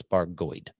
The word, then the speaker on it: Bargoed: heard people say that it's supposed to be pronounced barod but he says it's baroid okay so baroid is a former mining town